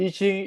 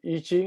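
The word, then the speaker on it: I Ching: basis of itching okay itching is the direct chinese pronunciation as the word there eating in mandarin yeah as is written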